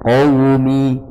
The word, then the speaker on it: قومي: tapi kalau cetakan Madinah qaumi itu tanpa titik. Ya, qaumi ya'lamun. Cara bacanya adalah biasa tanpa ditasydidkan. Qaumi biasa.